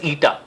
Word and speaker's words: eta: It is not N, it is, we pronounce it as eta.